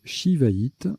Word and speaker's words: Shivaïte: peut également jouer S-I ou C-C-D-I, ça se prononce Shivaïte, d'ailleurs je crois que c'est la seule, ça